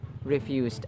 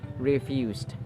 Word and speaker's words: refused: task fluster refused refused refused notice that there is that final te sound that we have to make because it is in past tense form with a d at the end refused refused notice also that